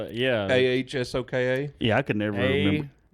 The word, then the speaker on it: Ahsoka: Osaka. Osaka. Yeah. That's a city in How Japan. you spell it? Yeah. AHSOKA.